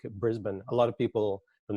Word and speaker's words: Brisbane: think like it looks like I suppose it does look like Bane, but it's actually Brisbane. It's kind of like Melbourne, Brisbane.